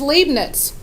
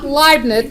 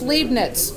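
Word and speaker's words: Leibniz: I T Z and it is limas it's not liveness it looks like the word like no it's leaving it it's leaving it we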